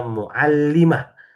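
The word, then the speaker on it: مُعَلِّمَة: In tanda bacanya ada di bawah tasdid ya, Bapak-bapak. Ini tanda bacanya ada di bawah tasydid maka dibacanya muallimah. Kalau tanda bacanya di atas tasdid naruhnya di sini jadi muallamah.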